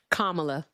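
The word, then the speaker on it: Kamala: Um the previous call how how were you saying to pronounce Camala? Is it just Camala? Is that what you were saying before? Kamla.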